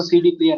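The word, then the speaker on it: CD-Player: कहते तो सी डी प्लेयर है, बट प्रोनाउंस कैसे करेंगे? सी डे प्लेयर। ठीक है ना, सी डे प्लेयर।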